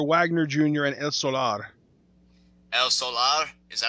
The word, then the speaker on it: El Solar: demon Jr do Wagner Jr and El Solar El Solar is that how you pronounce it is that good yeah well yeah it's it's just El Solar but actually you know Spanish right again just